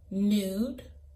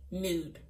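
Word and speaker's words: Nood: The first gloss is called Nude. It's Nude. It's spelled N-O-O-D, Nude.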